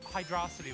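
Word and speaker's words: Hydrocity: There's like Hydrosity lets you do it, which is the correct pronunciation.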